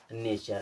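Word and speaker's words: nature: क्या पढ़ते हैं चर अब देखिए एन ए टी यू आर ई टी यू आर ई से क्या हो गया चर इसे पढ़ेंगे चर अब यहां पे लगा एन ए तो क्या लगा देंगे ने ये हो जाएगा नेचर नेचर मींस होता है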